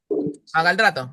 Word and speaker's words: magaldrato: malga, ¿cómo se pronuncia? Magaldrato, magaldrato.